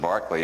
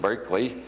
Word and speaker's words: Berkeley: city is named only we don't pronounce it Barkley anymore we pronounce it Berkeley and then there was